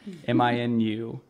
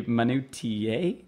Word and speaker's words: minutiae: Minutia. If you were to pronounce it out and without knowing kind of that it was a sh at the end, it'd be minutiae, I guess.